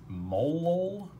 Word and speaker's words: molal: how you pronounce that how you would pronounce a solution with a given concentration in molality is molol which sounds weird basically